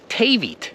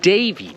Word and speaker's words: David: If you were pronouncing the first D of David like you're pronouncing the last letter, David, well then you would be saying Tavit, but you're not saying Tavit. You're saying David.